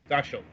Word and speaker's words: Döschl: How is it pronounced? Döschl. Right, that's a typical Bavarian name, actually. Right, Döschl of FDG Entertainment.